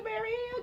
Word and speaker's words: Castleberry Hill: and I keep wanting to say Castleberry Hill, but I feel like I'm saying it wrong for some reason. That's it, Castleberry. Right. Castleberry Hill, girl.